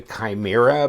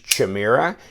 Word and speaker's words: Chimera: I call it the Chimera because I looked it up on Wikipedia or Greek mythology thing and they said that it's even though it starts with the C it's pronounced more of a K but one person tried